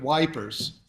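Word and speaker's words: Ypres: know what you meant in Britain they say the British couldn't pronounce that word so they called it wipers it was fought in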